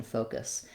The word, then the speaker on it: focus: by itself and then moving to the second syllable cuss and this syllable uh the letter u says the vowel schwa sounds like uh we have the k